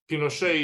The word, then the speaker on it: Pinochet: Pinochet or Pinochet. Pinochet is the right pronunciation because he's half Basque, half Breton, basically.